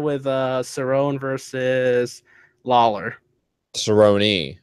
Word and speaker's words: Cerrone: uh Cerone versus Lawler Cerone it's not Sone um whatever well you